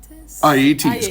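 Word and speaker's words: Aeëtes: I'm sorry if I pronounce this wrong. Aeetes.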